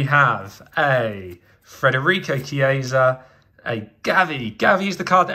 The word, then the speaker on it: Gavi: But Gavi, sounds like Javi, rhymes with Javi, definitely one for the future.